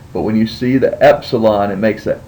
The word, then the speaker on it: Epsilon: a a vow here Epsilon and Epsilon is pronounced as the e in met so anytime you see the